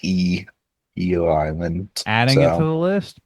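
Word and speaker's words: Ieoh Island: So, uh, they spell it I Oo Island um, but in pronounced Eio Island.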